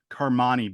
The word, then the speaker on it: Carmani: Carmani Boozer is his name, the older brother.